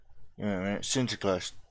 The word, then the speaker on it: Sinterklaas: Sinterklaas, Dutch pronunciation, or Saint Nicholas.